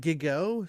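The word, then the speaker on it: Gigot: What is it Gigo starring Jackie Gleason? Was the first at Radio City Music Hall. I'm assuming a musical. Gigo.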